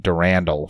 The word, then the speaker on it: Durandal: science and engineering, and Durandal, who runs the automatic functions of the ship. Although I've always pronounced it Durandal for some reason.